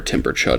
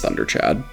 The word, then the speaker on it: Timberchud: they have is where Timberchud is. And like Timberchad I believe is also in the official D&D movie, but I I think every a lot of people mispronounce him as Thunderchad.